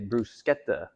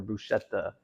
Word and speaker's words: bruschetta: Uh so we're be making a bruseta or bruschetta, depending on how you want to pronounce it.